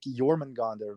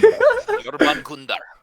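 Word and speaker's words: Jörmungandr: It's like when I see things like Jormungandr versus that was a horrible pronunciation. Yorban Gundar.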